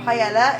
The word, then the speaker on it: paella: you doing so tonight we're going to be making a paa or Pella if you pronounce it the English way so this obviously going